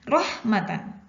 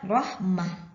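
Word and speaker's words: رحمة: ini Hai kemudian sama rohmatan tidak dibaca rohmata tapi dibaca Rohmah Rohmah hai mei aneh ini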